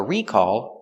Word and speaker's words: recall: In the past, there was a recall on that car. And the verb is recall with the stress on the second syllable.